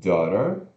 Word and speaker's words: daughter: Como se fosse Daugter, né? A escrita, mas a pronúncia, ó, apóstrofo, indicando sílaba tônica, D-O, dó, dó, T-R, ter, daughter, daughter. Só que assim, esse T aqui, ele pode ter um som de R, então fica daughter, daughter.